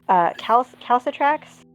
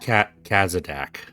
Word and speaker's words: Kazadak: They found that the eyes had been removed, and that symbol of calcitrax, is that the right way to say it? Calcitrax class. It's so that Kazadak.